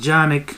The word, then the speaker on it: Canik: out that you know the name is pronounced janik you know there's a turkish company and it's named after